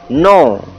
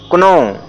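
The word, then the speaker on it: know: के एन ओ डब्ल्यू नो, न कि इसे पढ़ेंगे क्नो। के इसमें इसलिए साइलेंट है क्योंकि के बाद यन आया है,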